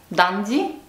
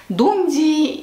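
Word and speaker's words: Dundee: дам фирме dandi и именно так произносится эти шотландские города я сверяла это с англичанами потому что когда я рассказывала им куда я ездила они говорили что я неправильно произношу это firming я говорила и dum di и стирлинг на самом деле все звучит по-другому поэтому название этих городов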